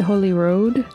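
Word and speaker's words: Holyrood: And then this is spelled Holy Rood, but everyone calls it Holy Road.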